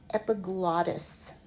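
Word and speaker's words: epiglottis: We have epot and you know you break between double consonants with syllables. Epiglotus. Epiglotus. In this context epi is above over a top glot.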